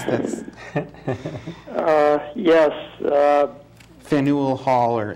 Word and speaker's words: Faneuil: How do I pronounce this? Faneuil Hall, or Faneuil.